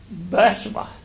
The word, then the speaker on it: Bathsheba: It's pronounced Bathsheba. The emphasis is on Bath, not she. So Bathsheba. So David sent, and he